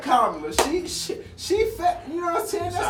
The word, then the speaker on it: Kamala: How are y'all feeling about the candidacy of Kamala Harris? Kamala. Get her name right. I thought it technically pronounced Kamala, but it's Kamala. Kamala. I've heard her say Kamala. Kamala. She said it on Good Morning America.